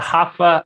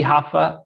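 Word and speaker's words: Rafa: that good perfect perfect the huffa is normally the harder part i just tell people to remember happy so happy huffa and that's how you pronounce my name i am a brazilian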